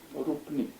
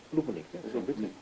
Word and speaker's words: Rupnik: Come si pronuncia? Rupnik. Rupnik.